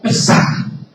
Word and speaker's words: Pesach: En el término hebreo, el término Pascua se lo lee como Pesach.